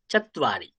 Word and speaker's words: চত্বারি: চত্বারি। চ, এই ত দিলাম, সামনে একটা ওয়া দিলাম, তৈব, চত্বা চত্বা তৈব, চত্বারি চত্বারি চত্বারি চত্বারি।